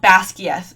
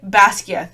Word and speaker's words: Basgiath: and said, oh, the War College is called Basgiath. And then the woman said, oh, I thought it was pronounced like this.